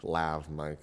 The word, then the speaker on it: lav mic: a wireless lavalier or a lob mic lav mic has how it's spelled these clip to your